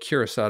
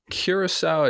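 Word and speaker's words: Curaçao: to uh an island in the Caribbean called kirasa to do a talk a couple weeks ago where which island is that so you spell it kirasa at Cur a Google it yeah and then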